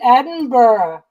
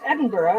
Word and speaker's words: Edinburgh: said it right because for most of my life I would say Edinburg and then somebody told me that it was Edinburgh and I want to